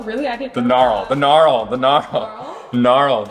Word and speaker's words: knurl: It's spelled Knurled. Is it knurl or gnarl? I don't know, but I like it. Shoot, let me look it up. What's the consensus? So yes, it's called knurl.